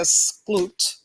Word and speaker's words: Skloot: to give props to rebecca skloot i believe that's how you pronounce her name because she was a